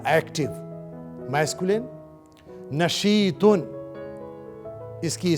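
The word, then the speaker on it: نشيط: नशीतुन, इसकी स्पेलिंग सुने.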